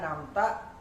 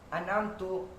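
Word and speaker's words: أنعمت: Contohnya siratal ladzina an'amta 'alaihim, harusnya dibaca an'amta, kemudian kita bacanya an'amtu.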